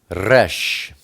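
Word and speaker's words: resh: next we turn to rash rash is the number 200 and it's pronounced like an R like R it's the picture of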